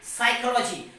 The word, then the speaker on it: psychology: Now another example we have P-S-Y-C-H-O-L-O-G-Y, psychology. So here you can see that there is a letter P and that comes before the letter S. So P becomes silent.